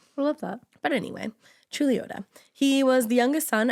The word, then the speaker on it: Chuluota: But anyway, Chuluota.